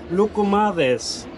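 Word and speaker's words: Loukoumades: Wie spricht man es richtig aus? Lucumades.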